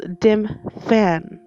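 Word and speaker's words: Dymphna: It's pronounced Dimfan.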